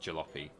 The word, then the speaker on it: jalopy: No, Peter, it is pronounced jalopy.